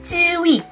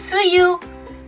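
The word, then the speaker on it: Tzuyu: Jadi Cui, di Korea dipanggilnya Cui. Jadi kalau misalnya teman-teman datang ke Korea, kamu suka TWICE nggak? Siapa yang paling kamu suka? Aku paling sukanya Suyu. Suyu? Suyu? Siapa Suyu? Orang Korea ngertinya Cui.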